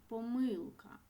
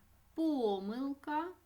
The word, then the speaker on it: помилка: з великої літери помилка це слово діти має два наголоси тому ми можемо сказати і помилка помилка предмет понеділок їжак перевірте